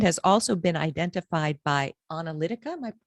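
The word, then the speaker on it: Onalytica: on Twitter, and has also been identified by Analytica, am I pronouncing that correctly?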